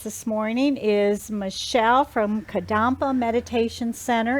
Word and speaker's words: Kadampa: And our guest this morning is Michelle from Kadampa Meditation Center. And did I pronounce that right, Michelle? Yes, you did.